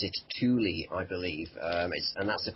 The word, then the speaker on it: Thule: So Thule is the German pronunciation. I think us over here, certainly Britain and America, probably I call it Thule, as you just did,